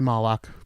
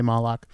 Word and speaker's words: Moloch: okay first of all I say ma lock it there are different acceptable pronunciations I say Moloch Moloch was actually a